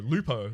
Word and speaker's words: Lupo: Lupo Lupo Lupo with a p lu p is in pepperoni okay that's my name I'm